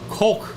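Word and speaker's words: חֹק: this word same thing hit with a hollam cook and cough coke very good yeah just like the the the soda that a lot of people like to drink coke it's the real thing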